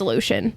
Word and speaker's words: Lucien: his name earlier and the way that I say his name is Lucien I say it like that too it's just I know it's meant to be Lucian okay I also when reading I say Lucian in my brain that's just how I personally pronounce it but how it's technically supposed to be pronounced due to how wrote it is Lucian okay but I agree I